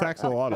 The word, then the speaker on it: axolotl: We're all going to learn how to say axolotl. Yeah, I probably said it wrong, but yeah. No, you said it right. It's axolotl.